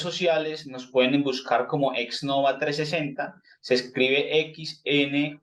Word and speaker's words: Xnova 360: y en redes sociales nos pueden buscar como exnova 360 se escribe XN o v a y 360 número